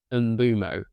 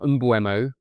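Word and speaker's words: Mbeumo: with a different pronunciation because Mbumo is pronounced Mbumo. It's not Mbuemo, and a Kinder Bueno is pronounced that way, Bueno. So those two words do not sound alike.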